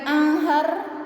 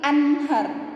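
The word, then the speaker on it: أنهار: sini serta kasih contoh nun mati ketemu sama ha ya maka bacanya jelas ya Nun nya itu jelas an ad Min ya bukan bukan Aher bukan juga Ahar bukan juga amhar tapi Anhar Angeles Hai ini nanti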